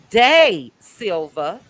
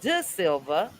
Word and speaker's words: De Silva: I listened to, and I was pronouncing her name wrong, Day Silva. I was calling her De Silva, but I was listening